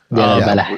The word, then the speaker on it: Deir al-Balah: situation is here in is it Deir al-Balah? Is that how you pronounce it? Deir al-Balah, yeah. With that with that H at the end that you have on there.